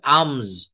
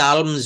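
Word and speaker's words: alms: এ এল এ sorry এ এল এম এস এটা উচ্চারণ হবে আমজ অনেককে আমি শুনেছি আলম বলে কিন্তু এগুলাকে বলা হয়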